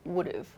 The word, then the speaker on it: would've: And the pronunciation changes to would've, would've.